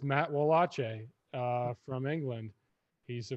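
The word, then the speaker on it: Wallace: i like this harry said it it's matt walache uh from england he's a very good uh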